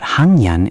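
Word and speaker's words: 학년: The g becomes m, so it would be haknyon? Perfect. Haknyon. Try saying it. Haknyon. Haknyon. Excellent. That nasal mm sound flows so much better into the mm sound, right? It really does. When I try to say Haknyon, it feels awkward, but Hungnyon is natural.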